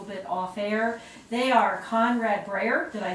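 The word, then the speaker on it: Konrad Breyer: They are Conrad Breyer, did I say it right, Conrad?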